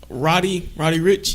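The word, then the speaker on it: Roddy Ricch: How you say it? Roddy or Rowdy? Roddy Rich. Right.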